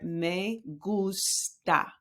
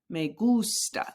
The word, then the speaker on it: gusta: Me gusta. Me gusta. The gus, when it's capitalized, it's where you put the emphasis on that word.